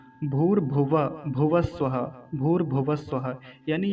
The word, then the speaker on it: भुवः: तो भुवः में जो ये विसर्ग है, ये लगभग आधे ह जैसी ध्वनि देगा, आधे ह के जैसी। तो क्या बनेगा, भूर भुवः। अब भुवः को पूरा बोलना है, नहीं तो गलती यही होती थी, भूर भुवा, भुवा जैसे बोल के निकल जाते थे, वैसा नहीं बोलेंगे।